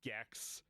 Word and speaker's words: Gex: If Tetris had sex, it would be like Gex, which is a stupid game with a dumb marketing ploy because Gex rhymes with sex and It's dumb and nobody cares about that game.